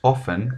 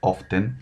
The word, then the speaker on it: often: el desayuno después tenemos off en que significa a menudo recuerden que la ate no se pronuncia no es often si nos ofende significa